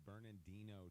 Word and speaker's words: Bernardino: Yeah, it's a tough pronunciation. There's a Bernardino. It's not just Bernard. It's not Bernardino. Bernardino that we grew up with.